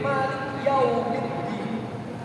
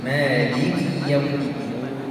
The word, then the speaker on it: مالك يوم الدين: Banyak dari orang, banyak dari manusia yang membaca kalimat Maliki Yaumiddin seolah-olah kafnya itu sukun. Jadi Malik Yaumiddin. Maka ini kesalahan yang nyata.